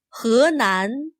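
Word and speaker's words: Henan: 河南湖南 Notice that he is not pronounced as he. This Chinese word for river sounds more like he. 河南 The Chinese word for lake sounds like hu.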